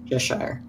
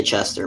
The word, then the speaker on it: Cheshire: Cheshire. I want to say Chester, but it's Cheshire.